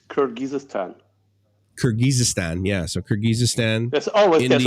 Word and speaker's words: Kyrgyzstan: getting across a bit yes how do you pronounce that what is it it's kurgistan kyrgyzstan yeah so kyrgyzstan always there's always a stand